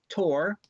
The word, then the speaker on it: Thor: it but it was things like Thor was Tor Odin was oin and Loki was Loki Loki yeah not quite